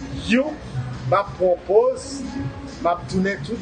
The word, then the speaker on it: HU: mantra, son sacré, You, qui écrit H-U, mais qui prononce You, m'a propose, m'a tourné tout à l'heure.